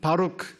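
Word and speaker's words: ברוך: 첫 글자는 B 발음이 나오고, 두 번째 글자는 R 발음이 나오고, 이제 끝에 거는 K 발음, 크 발음이 나오는데, 베들레헴 할 때 배가 이제 첫 번째 글자예요.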